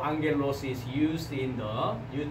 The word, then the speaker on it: ἄγγελος: So the first syllable, ang, right? Ang. Ang. And then gel los. And then the accent is on the above of the alpha, so the rising sound. So ἄγγελος.